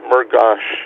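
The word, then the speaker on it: Murgas: He drove us up to Scranton for the Father MGUS uh Mgosh I guess it is. Uh but it's spelled M U R G- A S if you want to look it up on the internet.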